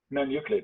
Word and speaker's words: Noneuclid: So after the school bands, and then what how do you pronounce the band name? Noneuclid? Noneuclid, yeah.